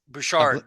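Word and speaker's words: Bouchard: you say his last name bu Albert bushard bushard that's right Bard you're welcome yeah thank you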